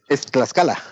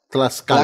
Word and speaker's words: Tlaxcala: ¿Tlaxcala? ¿Es correcto como lo pronuncio? Es Tlaxcala. Tlaxcala.